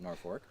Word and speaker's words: Norfolk: So we had this one for years, but since we are in Norfolk, Connecticut, I pronounce it Norfolk, we were given this one.